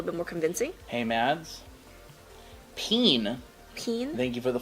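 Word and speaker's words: Pean: Peen. Peen? Thank you for the follow. Peen? P-E-A-N. P-E-A-N, like bean, but peen.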